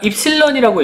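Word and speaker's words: epsilon: 그래서 여기는 변형률을 우리가 입실론이라고 읽습니다. 이거는 얘는 시그마라고 있고요. 이거는 입실론이라고 읽어요.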